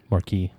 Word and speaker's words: Marquess: I don't know how to pronounce that one either. Marquis.